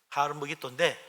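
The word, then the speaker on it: הר מגידו: 가지고 아마이 된 겁니다 히브리 원어 발음은 하름 먹이 도예요 하루 먹이 도인데 이게 헬라 사람들은 발음이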